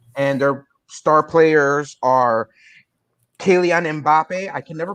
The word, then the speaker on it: Kylian: Kylian. Yeah, it's pronounced Kylian.